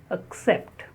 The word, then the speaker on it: accept: The second word is accept. Accept. Many people, they say accept. It is not accept, it is accept. The first syllable is the schwa sound, accept.